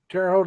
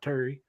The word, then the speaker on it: Terre Haute: A lot of people may not know this, but Terre Haute is French, and in French, terre is land. It's spelled Terre. It's terre, not Terry. And Haute is Haute. And Haute just means high.